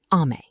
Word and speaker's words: Amae: The first word is Amae, pronounced A-ma-e, and it's the foundation of everything else.